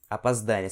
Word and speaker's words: опоздание: Опоздание. Você vê que esses dois Os são pronunciados como se fosse um A.